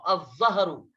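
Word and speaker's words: الظهر: और 12 नंबर है ज़ा, तो के बाद ज़ा, अज़्ज़हरु, ज़हर। यहाँ पर भी देखिए लाम को साइलेंट किया जा रहा है और बाद वाले हर्फ को क्या किया जा रहा है, मुशद्दद किया जा रहा है।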